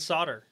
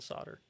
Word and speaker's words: solder: it's new jersey and solder yeah garage yeah most most people don't don't well at least most people in the us don't pronounce the l and solder i guess we kind